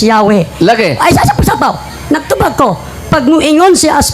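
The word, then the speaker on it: Yahweh: basaho nangayo sa encyclopedia the true pronunciation of the name yh was never lost several several early greek writers of the christian church testify that the name was pronounced Yahwe sa wa pa ni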